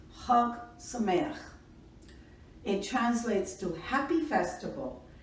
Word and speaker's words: Chag Sameach: Number 3, Ha Sameach, pronounced Chag Sameach.